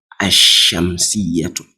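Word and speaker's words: الشمسية: But observe here. Ash-Shamsiyatun. Ash-Shamsiyatun. You see, the lam is hidden.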